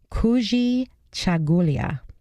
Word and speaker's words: Kujichagulia: this one's great this word in Swahili is pronounced Kujichagulia the third is collective work and responsibility and